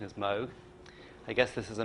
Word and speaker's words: Moog: pronounce it, so I always call it a Moog. But the correct pronunciation is Moog.